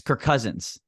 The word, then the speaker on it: Kirk Cousins: uh Kirk Cousins where nobody fully pronounces Kirk Cousins it's Kirk Cousins Kirk Cousins you end his name and start his and his first name and start his last name all in the same syllable there Kirk Cousins but